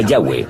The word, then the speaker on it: Yahweh: En inglés y español son YHWH. Pensamos que probablemente se pronunciaba Yahweh o algo así.